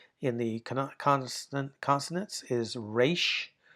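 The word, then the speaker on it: resh: Here, the third to the last letter in the conant consonants is re r is how we say that.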